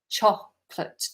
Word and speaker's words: chocolate: Chocolate. 2 syllables, not chocolate or chocolate. Chocolate. Chocolate. Okay, Oh, Stephen, prawn cocktail crisps.